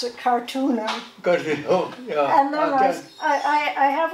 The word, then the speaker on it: Karttunen: I say, Karttunen is like Kennedy. It begins with a K. It has 3 syllables. The stress is on the first one. Think about it. Kennedy, Karttunen. and they learn.